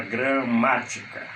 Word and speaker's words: gramática: Por exemplo, a palavra gramática, ma. Você conta 1, 2, 3. A sílaba forte é ma, ela é proparoxítona.